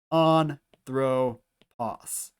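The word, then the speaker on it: ἄνθρωπος: On, throw, pos. Our next word here, doulos. So this is our first syllable, delta, with the diphthong omicron hoopsilon, which makes the oo sound, do.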